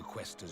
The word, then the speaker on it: Questor: So, the Questor's Questor. report was true. Say it like Quest and add Tor.